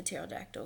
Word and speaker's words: pterodactyl: couldn't you hear the pterodactyl go to the bathroom because the P is silent get it um so